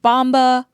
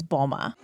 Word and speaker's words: Mboma: I've heard Bomba, Momba, Embomba, but just so we're clear, her last name is Bomba.